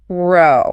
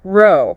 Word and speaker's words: row: So, first we have the pronunciation that rhymes with go. Row row. Row.